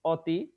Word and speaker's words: অতি: অবুঝ এখানে অ আছে দ্বিতীয় উদাহরণটা হলো অতি অতি এখানে অটা ওকার হয়ে গেছে তৃতীয় উদাহরণটা হলো কক্ষ